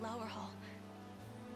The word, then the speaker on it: Lowerhall: My ears have met with the news of the Liberation Army's reclamation of Castle Lowerhall. It's pronounced Lower Hall.